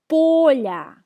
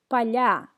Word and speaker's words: поля: When the last syllable is stressed, it's a plural form in the nominative case. Поля. When the first syllable is stressed, поля. It's a singular form in the genitive case.